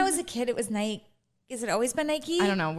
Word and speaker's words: Nike: You don't know how to say Nike? Is it Nike? It's Nike. I get in trouble. I don't. Oh my God, really? I think when I was a kid, it was Nike.